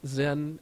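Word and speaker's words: Xen: It's like VMware ThinApp, or XN, I think that's how you pronounce it, Zen, X-E-N, whatever it is.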